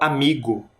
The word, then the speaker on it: amigo: separamos em três sílabas vocês perceberam que a palavra amigo tem uma sílaba que é mais forte você consegue identificar amigo é o mi então ele está nesta